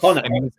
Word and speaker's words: Conor: he goes, "You've always said that your name is spelled CONAH." I went, "I have never said that in my life." Connor.